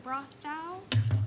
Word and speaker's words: Brostow: Hi, I am Brostow. Can you spell that last name for me?